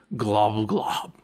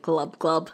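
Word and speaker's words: Gl'bgolyb: also a lusus named glum glob isn't it pronounced like glub-glub basically but creep more creepy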